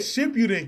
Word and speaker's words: Shippuden: You said Shippuden correct.